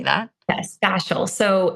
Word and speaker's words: fascial: or fascial how do you say that yes fasal so it's cranial fascial therapy and a lot